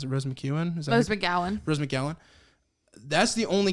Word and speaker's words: Rose McGowan: was from the rose mcgee how do you pronounce the rose mcewen rose mcgowan rose mcgowan that's the only character i got